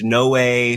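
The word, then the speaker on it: Noé: to go with like if it's no way or Noah or no I'm pretty sure it's no way oh good because that's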